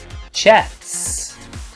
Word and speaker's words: chats: Okay, once again with that pause followed by the S sound. Chats. Of course, if you were saying the word on its own, chat, then you would need that strong T sound at the end. Chat. Using the tip of your tongue. But here we're using the middle of our tongue, putting it on the roof of our mouth.